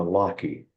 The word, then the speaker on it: Lockie: Grandma Lockie, pronounced like Lucky, she'd always say.